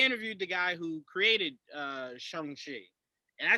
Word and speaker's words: Shang-Chi: Let's start off with, I just found out the actual pronunciation of the MCU version. Shang Chi is the name.